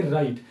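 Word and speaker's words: write: इसको अगर आप पढ़ते हैं पढ़ेंगे राइट। हमने यहां पे डब्ल्यू जो है इसको हमने साइलेंट कर दिया।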